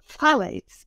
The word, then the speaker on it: phthalates: Because that's full of a substance no one can pronounce. It's phthalates, P-H-T-H-A-L-A-T-E-S.